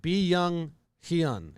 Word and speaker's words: Byung-Hyun: name wrong but uh young hung kim how do you pronounce it young han hyun kim that's like b young hyun is how really that's how baseball reverence has it i mean kim as